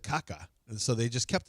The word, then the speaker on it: Kaká: Yeah, it's Kaká. Who? Yeah. Kaká that the it's The accent is on the A.